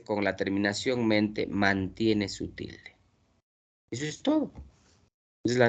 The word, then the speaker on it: sutil: ¿Se pronuncia sutil o sutil? ¿Qué dicen ustedes? ¿Cuál es la correcta pronunciación de esta palabra? Sutil o sutil. Sutil. ¿Dónde está la mayor fuerza de vos? Til. Ent. Claro. Es una palabra aguda.